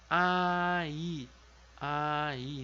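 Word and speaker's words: 아이: muda a nossa pronúncia em coreano não a gente vai pronunciar a cada uma das vogais bem separadinho num tempo Cada uma com a sua pronúncia do seu tempo então fica aí aí então Aí é criança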